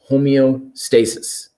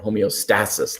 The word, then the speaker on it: homeostasis: is adapting to regain homeostasis or homeostasis depending on where you put the emphasis on the right syllable right and so whenever